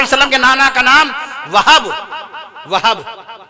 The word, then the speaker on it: وہب: کے نانا کا نام وہب کہیے، ماشاءاللہ تلفظ صحیح نکالا آپ نے۔ نبی کریم صلی اللہ